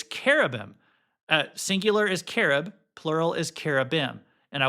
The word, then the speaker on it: cherub: I forget that a lot of times in the Bible, uh, in the Hebrew, the ch is pronounced like a k. And so technically, it's carob. Uh, singular is carob, plural is carm.